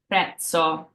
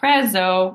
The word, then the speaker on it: prezzo: An example of this in Italian is the word prezzo. It's not prezzo, it's prezzo. So we have that pizza sound. So prezzo. I like to break the T and the S up there to get our Z sound phonetically.